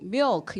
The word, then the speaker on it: milk: 근데 밀크 이름 못 알아듣고 milk 이렇게 해야 돼요. 그래서 그럼 왜 너 해봐 그랬더니 사실은 미역이랑 발음이 똑같아요.